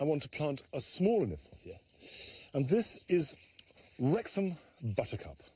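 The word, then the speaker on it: Kniphofia: We should pronounce it Niphofia, because it was named by Johann Hieronymus Nip. And we've managed to conflate that, so there's a fuff in the middle.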